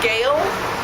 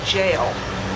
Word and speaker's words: gaol: that word i see gail gold gown i don't think it's correct pronunciation which is actually jail as in g-a-i-l apparently g-a-o-l is the